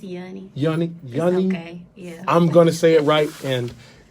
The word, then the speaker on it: Yuni: It's Yuni.